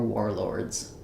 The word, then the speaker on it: warlords: And then Lords is more straightforward. It just follows the general idea of the OR saying the OR sound. And then our letter S is a Z sound in 4 warlords.